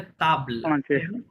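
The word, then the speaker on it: table: কিন্তু উচ্চারণ কি হবে তাবললা তাবলা যেহেতু লাস্ট এটা সাইলেন্ট হ্যা তাবল সো লাস্টে কি আছে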